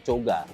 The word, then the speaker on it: Koga: r- Minang bukiittinggi ya Koga itu sebenarnya Kalau di kampung gua itu dibacanya coga coga coga itu bukan cowok ganteng